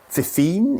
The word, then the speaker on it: FiFine: it it could be fifine it could be F fine I like f fine I would probably term it a a the F fine so this is a